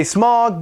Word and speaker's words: Smaug: Yes, I say Smaug because I think that's how it should be pronounced, but that's my own opinion.